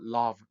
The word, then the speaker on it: love: love도 love 아니고 love. 이게 삿갓 발음이 있죠? love.